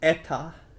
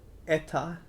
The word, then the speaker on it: eta: Next one, it looks like an H, but it's eta, eta. Yeah, I'm not going to tell you my estimated time of arrival, but I will tell you my eta, eta.